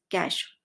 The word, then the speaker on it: cache: CACHE is pronounced as कैश, Gupta Bhandar.